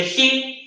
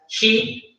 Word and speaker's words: he: Luego, el he, ¿cierto? Que era el él, que se pronuncia he, también con una J, he, ¿ya?